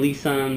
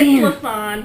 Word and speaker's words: Lisan: So joining me now is Milwaukee comedian Lisan. Hello. Did I say it right? No. It's Lisan. Lisan.